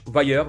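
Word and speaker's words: Vayer: Ça se prononce vailler."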